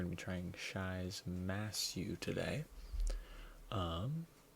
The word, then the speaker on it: Masyu: to be trying Shai's massu today um it's my first time saying that correctly I looked up how to pronounce it I've been saying it uh myu this whole time which is incredibly wrong but okay here are